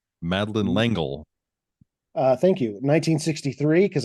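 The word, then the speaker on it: Madeleine L'Engle: the author one time oh how do you pronounce her name madin langle uh thank you 1963 because I was gonna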